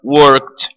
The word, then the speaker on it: worked: Ela é consonantal, é como se fosse um encontro terminado em T.